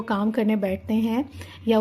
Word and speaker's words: Hugh: real name was Hector Hugh Monroe. So it is not Hug, ठीक है, और नॉट ह्यूज और नॉट ह्यूग। ठीक है, GH is silent hair, so you will be calling it Hector hue Monroe और इसका short form